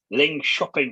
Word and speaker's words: Linköping: and I've been told this is how you pronounce it, Linköping University in Sweden.